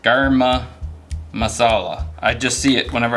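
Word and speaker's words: garam masala: I think it's actually pronounced garma masala.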